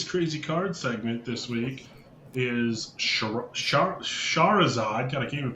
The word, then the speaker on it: Shahrazad: Corey's Crazy Card segment this week is Shahrazad. God, I can't even pronounce the card. come on, Corey, it's your card. Shahrazad. it's just Shahrazad.